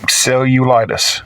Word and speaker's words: cellulitis: Um, cellulitis.